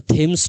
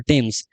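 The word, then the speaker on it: Thames: উচ্চারণটা থেমস নয়, উচ্চারণটা টেমস।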